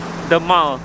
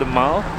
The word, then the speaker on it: The Mall: made it to pakistan palace and this is the mall where i just cycled through just now it's not pronounced the mall apparently it's called the mao and that's the monument over there buckingham palace